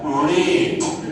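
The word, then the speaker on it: read: এইবার বানান একই কিন্তু পাস্টের উচ্চারণ আলাদা হবে, কিন্তু সময় মনে থেকে যেন আই রিড, যে লাল রং হয় ওই লাল রঙের রেড, রেড আর ই ডি, রেড। আই রেড book yesterday, I রেড books yesterday. ঠিক থার্ড ফর্মে সেম উচ্চারণ আসবে, রেড।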